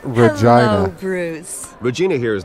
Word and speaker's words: Regina: Of course I know it's these It's pronounced Regina.